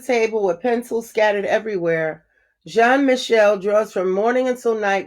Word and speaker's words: Jean-Michel: I pronounced his name wrong. It's actually Jean-Michel.